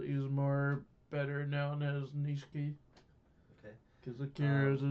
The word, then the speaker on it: Nishiki: Japanese, some things in American, and Ni- not Nichiki, what's his name? The guy with that Niho, what's his name? Kazuma, and who's the other guy? Nishiki.